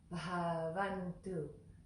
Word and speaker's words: Bhavantu: So again, that B and H next to one another is one word, one letter. And it's pronounced Bah, Bah, Bah. So, so that would be, we could say rub honey, rub honey, rub honey. That helps our Western palate say that word.